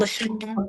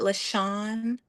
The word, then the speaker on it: Lasean: think is how I say it. LaShawn. Mm-hmm. Like Okay. lawn. LaShawn. Yeah.